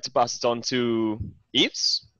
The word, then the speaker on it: Yves: I'd like to pass it on to Yves. Is that how you pronounce it? Yes, nice.